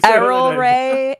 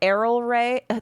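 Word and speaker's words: Erel Rae: Just just say just say Arrol Ray. Errol Ray.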